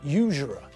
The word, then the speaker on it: usurer: he exploited them now did you notice the word usurer that's the same type of word as university and uniform because we pronounce the first letter as you not ooh we use a consonant not about normally as we